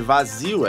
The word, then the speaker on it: vazio: na palavra vazio que a sílaba tônica de vazio é vazio tá ligado só que ele colocou como se fosse a primeira aí mesmo que inventou um assento assim na sílaba vá né de fácil ele ele